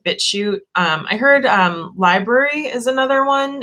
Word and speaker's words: LBRY: So I really think places like BitChute, I heard Library is another one. It's spelled weird. It's like LBRY.